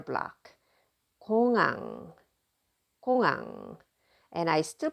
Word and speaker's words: 공항: 공항, 공항. And I still pronounce this because this is a final consonant, right?